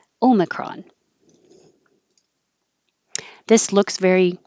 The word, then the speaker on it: omicron: or omicron and omicron i think this is a very american version of it because of changing the i to an uh and instead of an o making it an arm omicron but you also will hear the more correct pronunciation of the greek letter o me or ome omicron this looks very like